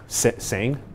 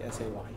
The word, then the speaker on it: Say: Say. Saying? Say. Same? Like, pronounce it like S-A-Y. Say.